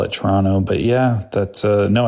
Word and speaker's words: Toronto: We just don't pronounce the the second T. We just say Toronto.